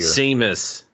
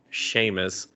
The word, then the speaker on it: Seamus: sheamus there we go i don't know why i'm saying what oh because it spelled like seamus but then i was like oh wait it's irish i gotta say sheamus huh anyway sheamus as